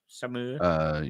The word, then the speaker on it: Saumur: Can you pronounce that, Brian? Saumur.